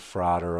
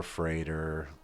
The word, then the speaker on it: Frater: and the pronunciation of fraer over freighter you know it's not that important it's tomato tomata it rhymed with Father it sounded better to